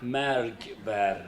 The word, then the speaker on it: مرگ بر: مرگ بر. Say it again. مرگ بر. Malk bar.